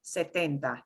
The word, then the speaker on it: setenta: So the pronunciation is a little softer on the T. Setenta, setenta.